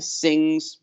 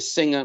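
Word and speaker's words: Singha: drinking the Leos the Singh's people mispronounce it a singer but actually it's a sing and they're all a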